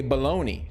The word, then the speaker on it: bologna: And I feel sorry for whoever went through that traumatic experience because I'm traumatized by how the word bologna is spelled versus how it's said.